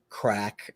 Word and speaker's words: craic: show the other day, Irish crack, CRAIC, Yeah.